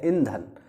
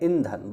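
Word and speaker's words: ईंधन: कहा जाता है इंधन इसका जो सही वर्तनी जो उच्चारण है वह है इंधन यह है धन और यह है इंधन बस इतना ही अंतर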